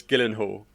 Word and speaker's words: Gyllenhaal: too i don't think anybody knows how to pronounce jack gillian who's last name jillian hall's last name i did gyllenhaal it's gyllenhaal killing man i think it's just of course